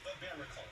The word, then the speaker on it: Barbaracle: Okay, Barbaracle.